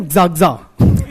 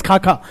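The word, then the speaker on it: Khakha: For many years, while teaching, I used to pronounce his name as Zagza. One of the students corrected me, ki sir, it's Khaka. Only then I got to know.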